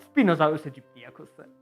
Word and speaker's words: Spinosaurus aegyptiacus: In this case, it's mostly Godzilla lore and fun facts about Spinosaurus aegyptiacus. Yes, that's how it's pronounced.